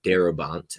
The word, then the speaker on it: Darabont: The Green Mile was directed by Frank Darabont. I believe that's how you pronounce his name.